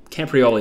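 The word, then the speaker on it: Camporeale: and father Sons as a camper rally camprioli camprioli that's how you say it is a Welsh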